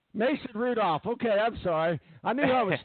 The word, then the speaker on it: Mason Rudolph: Mason, and his name Mason Randolph? Did I say the name wrong? I'm sorry. Mason Rudolph.